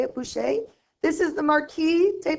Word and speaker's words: Boucher: look at this one this one's done by whose shade that's how you say it Boucher this is the Marquis de Pompadour you actually